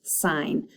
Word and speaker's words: sin: to the word sin which is actually in math pronounced sign so it's between the